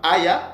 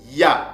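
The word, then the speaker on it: היה: Et ces mots, ces verbes-là ne se prononcent pas aya ou ne se prononcent pas aya, mais ça se prononce tout simplement ya. C'est ça la bonne prononciation en paléo-mbala.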